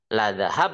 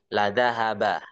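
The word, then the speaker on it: لذهب: Kalau yang apa beredar di dunia yang masyhur itu kan riwayat hafznya itu enggak begitu bacanya enggak ladzahab bisamihim tapi ladzahaba lazahaba.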